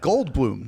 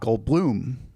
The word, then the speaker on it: Goldblum: Jeff Goldblum, not Goldblum. That's right. Although I was in Argentina once, and the David Letterman at the time of Argentina said, "Here he is, Jeff Goldblum."